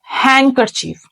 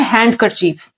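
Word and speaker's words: handkerchief: the fifth one इज हैंड करर चीफ students याद रखें हैंड करर चीफ के अंदर डी जो है साइलेंट होता है बहुत सारे लोग इसको पढ़ते हैं हैंड कर चीफ दैट इज एब्सलूट रंग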